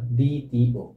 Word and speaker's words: দ্বিতীয়: লিখি যদি লিখি হচ্ছে দ্বিতীয় দ্বিতীয় দ্বিতীয় এই লাস্টে কিন্তু এটা অন্তস্থ অটা কি অন্তস্থ কিন্তু উচ্চারণ হয়ে যাচ্ছে ও এর মত কিসের মত ও এর